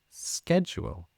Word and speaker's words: schedule: or context for instance schedule can also be pronounced schedule so in the UK we would say schedule but in America they would pronounce it as schedule spell exactly the same but just pronounced differently yeah there you go